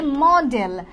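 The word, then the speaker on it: modal: সো আজকে আমরা দেখব মডাল ভার্ব। রাইট? এখন দেখেন অনেকে কিন্তু এটার উচ্চারণটাই ভুল বলে। অনেকে এটাকে বলে মডেল। কিন্তু এটা কিন্তু মডেল না। এটা হচ্ছে মডাল।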